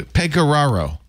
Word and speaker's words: Pegoraro: peraro is here who pegoraro yes sir it's a nice Venetian name pagaro you actually have a